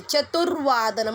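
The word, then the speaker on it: चतुर्वादनम्: इन द चतुर्वादनम वावरती रफार आहे, लक्षात ठेवायचं आहे. चतुर्वादनम म्हणून मी र प्रोनाऊन्स केला.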